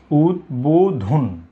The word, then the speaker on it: উদ্বোধন: যেহেতু এটি উদ উপসর্গের সাথে যুক্ত হয়েছে, তাই এই শব্দের সঠিক উচ্চারণ হবে, অর্থাৎ এখানে ব উচ্চারিত হবে উদ্বোধন। উদ্বোধন। উদ, এখানে কিন্তু ব এর উচ্চারণ হচ্ছে।